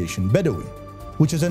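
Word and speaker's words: بدوي: with the name bwin or more accurately its Arab pronunciation ation bedi which is a name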